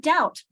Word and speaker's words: doubt: Word, the B in the word doubt. Our we have it. We don't hear it.